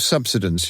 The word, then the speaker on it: subsidence: we don't Bit of subsidence you reckon the pedantic Morse gave the stress to the first of the three syllables more like an earthquake